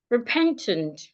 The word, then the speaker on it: repentant: Another word I can have the word repentant. Repentant. Repent. Excuse me. Repentant. So the e in the first syllable and the a in the second syllable are both articulated as a sure.